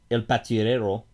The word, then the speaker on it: El Patrullero: But anyway, so Highway Patrolman, or in Spanish, El Patrullero.